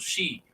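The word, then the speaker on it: Xiu: Sheep. Okay, educate me. Yes. The people identified themselves as the Tutul She. The XI is pronounced she, as like SHE.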